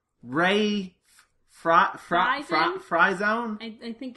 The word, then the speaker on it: Friesen: let me make sure I'm pronouncing this right. Ray Fryzone? I think it's Fryzone. I think it's Fryzone. It's Ray Friesen!